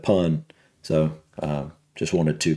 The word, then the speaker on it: Pun: based after this guy he said I got the first name correct Dipper said um but he said poon instead of pun so I just wanted